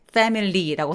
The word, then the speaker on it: family: 가족은 보이기엔 family라고 써있지만 I를 삭제시켜서 family, mly, mly라고 굉장히 빠르게 넘어갑니다. 근데 발음기호에는 저 I 부분에서 슈아라는 발음기호가 써있어요. 약간 뭉개서 내는 소리들이죠. Family 이렇게요. 써있긴 써있더라도 평소에 많은 사람들이 소리를 축약하거나 없애버리고 소리내기 때문에 Family, Family 라고 소리낸다고 알아두시면 될 것 같아요.